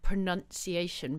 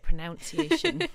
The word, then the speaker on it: pronunciation: Apparently that's the other one that people always say wrong, is pronunciation. People always say pronunciation with like the word noun in it.